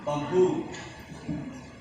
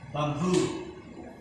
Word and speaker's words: bamboo: Next, bamboo. Okay, so last syllable, bamboo.